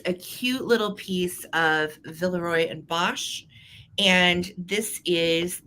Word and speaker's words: Villeroy: and um Valerie and you know people say a villery or Villeroy I actually Googled how to say it because I don't want to come off like a boob during my live sales so I Googled it and it was villaroy and Bosch that is actually the